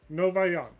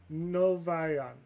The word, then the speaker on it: Novagion: Oh, so the G is silent. Novayan. Okay. Well, here we go, I guess. Come on, Kiana. Nope. Nope. Are you serious? Basileia Novayan. The G is silent because Greek.